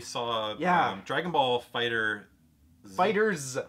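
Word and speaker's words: FighterZ: yeah Dragon Ball Fighter fighters apparently apparently that's the official pronunciation which I don't know it's a capital Zed and it ends in oh yeah okay looks really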